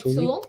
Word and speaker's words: tulle: wire, and then added tulle. Is that how you say it? Like tulle? Yeah.